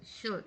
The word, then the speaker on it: should: Ini kamu catatannya adalah di kata shedengaran sh sh sh r with good not the eye in should is silent should shoot.